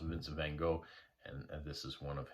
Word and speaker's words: Vincent van Gogh: a vincent van gogh i've also heard it pronounced vincent van gaal um yeah here i pronounced vince van gogh and this is one